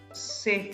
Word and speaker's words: c'est: Valerie, c'est formidable, this is great.